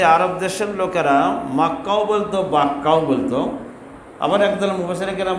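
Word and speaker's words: بكة: ভাষা ছাড়তে পারে নাই আর দেশের লোকেরা মিমকে বা উচ্চারণ করতো বা বলতো পাবলিক যেহেতু বাক্কা বলতো আল্লাহ কোরআনে কারীমে বাক্কা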